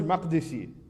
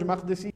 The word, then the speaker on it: Makdisi: a christian palestinian scholar his name is george mcdesi i don't know if he's even alive anymore or not george spelled george and makdisi is spelled with a k not with a q right m-a-k-d-i-s-i george mcdesi he wrote a paper about islam in the